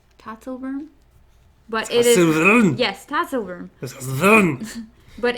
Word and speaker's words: Tatzelwurm: We have the Tatzelwurm. I learned it earlier because Chad told me how to pronounce it. Tatzelwurm? Tatzelwurm? But it is... Yes, Tatzelwurm.